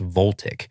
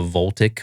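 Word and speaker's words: Voltiq: It's spelled like Volt IQ, V O L T I Q, but I think it's pronounced Voltic.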